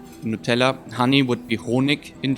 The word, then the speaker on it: Nutella: also put honey or Nutella which is pronounced very similar like just Nutella honey would be Hoenig